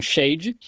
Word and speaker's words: Shad: Na verdade, a palavra hebraica Shad, S-H-A-D, alguns pronunciam Shade.